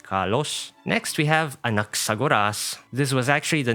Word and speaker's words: Anaxagoras: His codename is pronounced as Skemma, which means subject for speculation. One more time. Anaxagoras for his given name and Skemma for his codename.